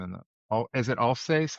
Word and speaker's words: Alsace: What'd you think of the Vosges, that whole section in the all is it Alsace? How do you say that? That In region? French, Yes. Oh, Alsace, yeah, Alsace.